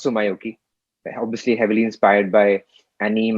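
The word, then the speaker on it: Tsumyoki: artist who works across genres this artist called sumaioki spelled t-s-u-m uh k-sum t-s-u-m y-o-k-i it's pronounced so myoki obviously heavily inspired by anime and uh japanese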